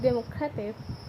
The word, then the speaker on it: democratic: In this family, the noun democracy has stress on the second syllable, but the adjective democratic places stress on the penultimate syllable because I creates a different periodic footing.